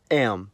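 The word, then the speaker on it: М: In the cerillic context, the letter is called am. It's used in every language that has the cerillic script and the sound it makes is m.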